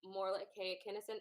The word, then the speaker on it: Morolake Akinosun: We are going to have Morolake Akinosun.